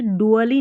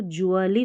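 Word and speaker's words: gradually: आर ए ग्रह और इसको हम पढ़ेंगे डुअली नहीं पढ़ना है। इसको जली पढ़ना है। डी यू A double L वाई को हम डुअली नहीं जली पढ़ते हैं। जहां पर भी आपको दिख जाए तो उसको ज्वली पढ़ना है।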